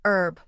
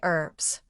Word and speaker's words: herb: Americans often say herb without the h sound while British speakers pronounce the hb.